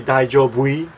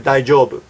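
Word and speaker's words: 大丈夫: long time ago saying, is it true that real Japanese say daijobui? No, that's not true. That is a commercial that Arnold Schwarzenegger did a long time ago saying, daijobui! And he made a really silly commercial. I'll try to find a video on YouTube and put it in the sidebar. But nobody says that. It says daijoubu.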